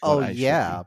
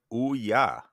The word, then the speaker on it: Ouya: I am not getting it's not like oh yeah but it's oah so u y a fun fact I was